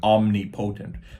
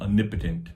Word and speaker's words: omnipotent: you might you might think omnipotent but actually omnipotent omnipotent is how you say it all powerful uh this